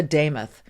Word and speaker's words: Demuth: The first time I met her, she said, ", it rhymes. It sounds like Joe Nameoth." Lisa Damoth.